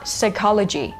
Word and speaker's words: psychology: อ ก เ สี ย ง ว่ า psychology and then if you want to call a